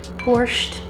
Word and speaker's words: borscht: natural flavors good stuff borch I had to look up how to say that I was like how am I going to pronounce this borch so M my hand